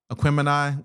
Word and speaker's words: Aquemini: Outkast is with their Aquemini was dope.